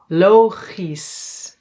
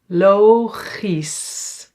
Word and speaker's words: logisch: Yeah, we pronounce it as is. So here we don't say that's only when it's at the end of a word. For example, fantastisch. fantastisch and logisch. logisch.